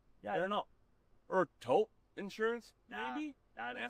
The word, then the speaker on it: Toop: Maybe Toupee. Could be Toupee. Yeah, I don't know. Or Taupe Insurance, Nah, maybe? I don't think so. Say it right. That's T-O-O-P. That's taupe. Oh, it's Taupe.